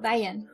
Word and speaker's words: Van: Well, Van is actually two syllables. Van.